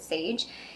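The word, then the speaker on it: Saje: It's S-A-J-E. I think you pronounce it Sage.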